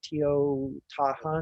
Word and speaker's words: Teotihuacan: I always forget how to pronounce that. Teotihuacan.